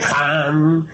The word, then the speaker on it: Ham: Ham escribe con las letras H-A-M. Saj se escribe con las letras S-A-H. La H suena siempre como J.